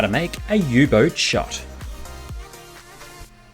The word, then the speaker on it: U-boat: channel right here now this here is the u-boat sometimes pronounced u-boot but this is a twist on the jager